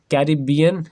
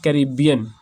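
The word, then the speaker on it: Caribbean: इसको ऐसे भी प्रोनाउंस कर सकते हैं या फिर इसकी प्रोनाउंसिएशन ऐसे भी हो सकती है कैरिबियन या फिर कैरिबियन।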